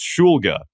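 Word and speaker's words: Shulga: Cuz you you'll you'll hear Schulga a lot. Like especially in his college career, you you heard Schulga. He was like, "It's Schulga."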